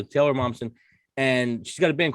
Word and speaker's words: Taylor Momsen: the grinchett stole christmas i always hear her name wrong is it taylor bobson yeah okay so taylor momsen and she's got a